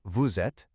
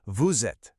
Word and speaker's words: vous êtes: When you say vous êtes, you don't say the two words separately. The S at the end of vous actually links up with the A and makes a Z sound.